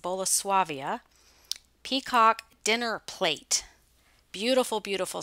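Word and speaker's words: Bolesławiec: this is polish pottery i believe it's pronounced bola suavia peacock dinner plate beautiful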